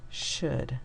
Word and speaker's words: should: was using the yellow this part is odd o u l to say uh and could and if you remember could you will also remember would o-u-l and should in these words okay